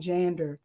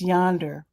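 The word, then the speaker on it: jANDR: Lowercase j, capital ANDR. I was saying Jander. It's Yonder.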